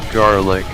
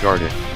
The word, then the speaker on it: garlic: Hey, Turkish money symbol, it's pronounced garlic, not gardic. Send this blood to the garlic dimension. Turkish money symbol said gardic.